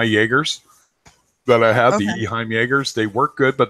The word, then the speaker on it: Eheim: Eheim. Eheim.